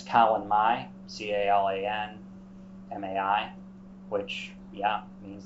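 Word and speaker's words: Calan Mai: Regional spellings as well uh in Welsh it's Colin Mai c-a-l-a-n -a-i which yeah means the first of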